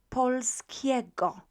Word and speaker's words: polskiego: here for you is the letter G. In Polish, we pronounce it as G, okay? So it's not J, but G, as in great, right? So polskiego. This is the way to pronounce it. So polskiego.